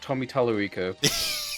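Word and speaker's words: Tommy Tallarico: It's pronounced Tommy Talorico.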